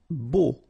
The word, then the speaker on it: beau: Beau. Okay, so remember we've got this strange combination of vowels, E, A, U, so three vowels, but then phonetically it's only O.